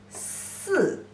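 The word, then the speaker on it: 四: Pronunciation is si.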